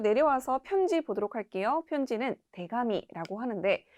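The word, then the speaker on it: 手紙: 하가키와 동일하게 두 개 붙었을 때는 타금 현상이 일어나서 테카미가 아니라 대가미라고 발음된다는 점 주의하시면 되겠습니다.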